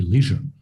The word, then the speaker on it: leisure: particular you know i i'm going with leisure now is what i'm trying to say which is probably the american way you would usually choose the uk pronunciation though which would be leisure no reaction yeah i'm